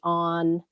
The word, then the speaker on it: Ow: So one of the famous origami creators who sort of specialized in making origami hearts is a man whose name is Francis O, and it's spelled O-W, Francis O, and you can look him up on the internet.